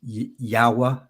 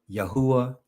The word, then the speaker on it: Yahweh: yhwh if you will and sometimes pronounce yahweh yahweh yahuwah that elohim that object